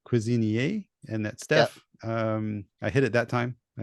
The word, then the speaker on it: Cuisinier: Again, I'm gonna I call him Cuisinier, but just before we started recording, he corrected me that it's should be in French, so it's Cuisinier, and that's Stef.